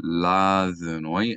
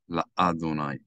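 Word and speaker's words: לַיהוָה: attached to the name, you do not want to pronounce the Aleph sound. So you're going to say La-Dunoi and not La-Adunai. That's a common mistake.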